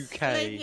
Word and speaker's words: Bucket: It's spelled like Martin. Oh no, this is that Residence, bucket and lady bouquet.